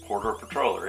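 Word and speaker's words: Patroller: We have a Futuron Lunar Transporter Patorler.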